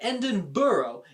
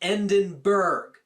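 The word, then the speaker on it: Edinburgh: a good fact that endon burrow is not pronounced endenberg bro just when you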